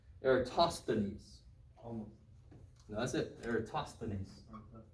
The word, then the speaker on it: Eratosthenes: Eratosthenes. Eratosthenes. The th is a th, not a t from the final.